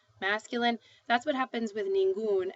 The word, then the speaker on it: ningún: that's what happens with ningún, and you add the accent mark because you've made uno into un, which is one syllable.